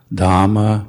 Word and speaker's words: dhamma: is pronounced hot and try to pronounce all the h's like i said as i said before dhamma buddha and sangha try